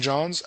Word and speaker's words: St. John's: but there's Saint John, and there's Saint John's. I've been educated, and because I was saying Saint John, Newfoundland, and I've been educated that apostrophe S is very important.